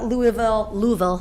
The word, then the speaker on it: Louisville: This is the Louisville, that's how you say it, Louisville t-shirt.